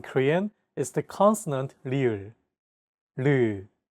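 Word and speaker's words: ㄹ: This consonant is often romanized as an R or an L, but there isn't an equivalent sound in English. 라마. This sound is actually somewhere between an L and an R sound. When pronouncing this sound, your tongue should strike the gum ridge behind your upper teeth in a quick, rapid motion.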